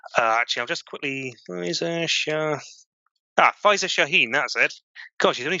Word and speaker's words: Faiza Shaheen: I can't remember exactly how you pronounce her name. Actually, I'll just quickly Faiza Shaheen.